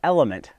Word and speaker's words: LMNT: the fine folk over a element that's spelled l m NT and they make a